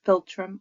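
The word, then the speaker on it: philtrum: So, indistinct filtrum.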